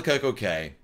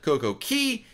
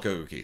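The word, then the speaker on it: CocoCay: And they said, you know, the Bohemians pronounce it Coco Key. And so, we're going to call it Coco Key.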